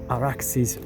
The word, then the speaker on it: Arax: by the Arax or Araxis river using the Persian Aadian Sumerian pronunciation. It's Arax but it's the derivation is much more ancient.